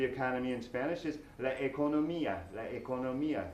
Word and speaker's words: economía: The economy in Spanish is la economía. La economía. This time we do have an accent on the I.